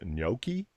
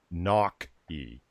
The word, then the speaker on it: gnocchi: Yeah, actually, evolved potato, if I remember correctly, he's saying in chat right now that's not how it's pronounced. I've always heard it as gnocchi, but apparently he's saying it's gnocchi.